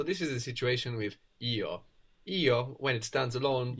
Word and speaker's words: io: and this ISO and it can sound a little bit more like yo yo when it's especially when it's pronounced in a sentence a little bit like the English a you know if somebody says